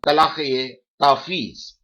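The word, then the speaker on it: talaq-e-tafweez: Divorce given by wife under the husband's delegated power, that is called talaq-e-tafiz. Talaq, T-A-L-A-Q hyphen E hyphen T-A-F-W-W-E-Z. Here, talaq-e-tafiz, F is silent.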